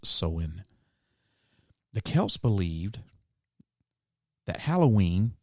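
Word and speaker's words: Samhain: the ancient Celtic Festival of soen which is spelled like Sam Hayne is M ha a i n but it's actually pronounced soen the Kels believed that Halloween known then as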